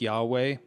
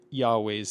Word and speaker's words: Yahweh: After that, we have the tetetrogrammaton, the four-letter name of God Yuhe Vave, which historically would have been pronounced something like Yahweh.